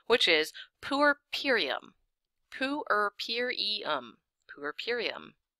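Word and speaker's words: puerperium: say it but now we have the official pronunciation which is purum pum Pur purum it's kind of a horrible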